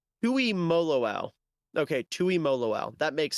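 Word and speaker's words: Tuimoloau: How do you pronounce JT's name? Tui Moloau.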